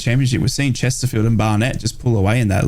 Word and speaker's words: Barnet: is it Barnet Barnet Barnet that's Barnet it's it's like that stuff on top of your head it's a Barnet mate don't your B do